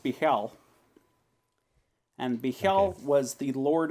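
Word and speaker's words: Bhaal: So, okay, so this says it's pronounced Bihal, and Bihal was the Lord of Murder.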